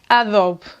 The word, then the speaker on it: Adobe: This brand here reads “ÁDOBE”.